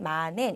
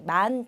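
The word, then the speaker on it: 万: 약간 일본식으로 발음해 주시면 되는데요. 자, 그런데 여러분께서 보시면은 얘는 그냥 만이 아니라 앞에 이치라는 게 붙었어요. 네, 그렇습니다. 자, 만 같은 경우는요. 1만을 얘기할 때는 꼭 이치라는 꼭 숫자를 넣어 주셔서 발음을 해 주셔야지만 올바른 읽기가 되는데요.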